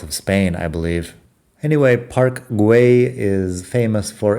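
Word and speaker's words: Güell: apologize it's my fault par is spelled g u with two points over it e it might be more like guay than G either way parg is one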